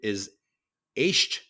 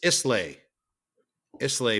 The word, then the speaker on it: Islay: the scotch the Scotch whiskey I call it islay islay barrels yeah okay it's Isa Isa know they were it's spelled is but it's pronounced Isa there you